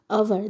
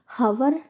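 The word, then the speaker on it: hour: तो एन लगता है बट यहां पे अवर की स्पेलिंग में एच है बट हम जब इसे रीड करते रहे हैं तो हम एच का प्रोनाउंसिएशन नहीं करते। हम हवर नहीं पढ़ते पढ़ते हैं अवर।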